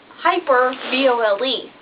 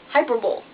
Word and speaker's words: hyperbole: Because it's hyper, B-O-L-E. So it looks like hyperbole, but it's hyperbole.